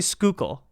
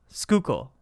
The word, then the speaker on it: Schuylkill: fish from the Schuylkill how do you say it's well we say Schuylkill Schuylkill but isn't there like